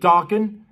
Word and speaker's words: Dokken: I mean, Juan rocked with Dokken And as you know, Dockin' rhymes with rockin'.